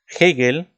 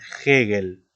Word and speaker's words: Hegel: En tal caso, Hegel, o digamos la teoría hegeliana, fíjate cómo se pronuncia, ¿no? Como si fuera una J, Hegel, ¿no?